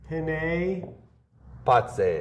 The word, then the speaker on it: Penne Pazze: check out Penne Pazze.